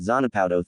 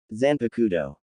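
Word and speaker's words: Zanpakutō: What's that Zanapowado thing? Eno asked saying it wrong. Zanpakudo Jera corrected and I'm not entirely sure.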